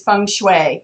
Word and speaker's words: Feng Shui: typical pronunciation is Feng Shui in the US, but I like to say that no matter how you say it, it's right somewhere in China. So you really can't get it wrong.